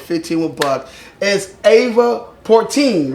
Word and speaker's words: Porten: So today, my artist that I'm bringing to the table with 15 with bug is Ava Portin. Right. Porten. Portin. Port. Portin. How do you spell that?